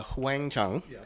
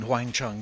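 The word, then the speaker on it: Huang Chung: started out of course your name was a little bit different phonetically uh huang chang right and uh that meant a yellow bell in uh mandarin or in chinese yeah the the idea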